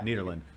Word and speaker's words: Nederland: or is it nederland nearly cedar lens yeah nederland we have a we have an issue with pronunciation on the show and i want to